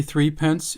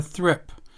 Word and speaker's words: threepence: He told me that you don't say threepence in Australia, or you didn't in the old days. You said a thrip.